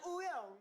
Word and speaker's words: Wooyoung: I'm Wooyoung.